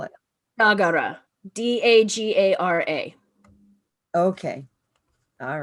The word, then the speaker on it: Dagara: um the west african um tradition of the dagara people in burkina faso um the the pardon